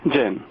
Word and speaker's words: Jain: Jain. Okay, because in where I was in India, it was pronounced either way.